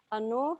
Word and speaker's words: anō: Okay, so the first one, 2 syllables, anō, so a, and then no.